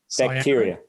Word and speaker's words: cyanobacteria: Cyanobacteria.